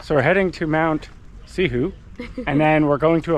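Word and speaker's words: Cihou: For me, as a Westerner, we're heading to Mount Sihu. But Yeah, we would say it. Well, depends though. C-I-H-O-U. See how O-U would be like see who, see how.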